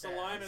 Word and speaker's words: Salinas: So what everybody thinks That's Salinas actually pronounced Salinas, as.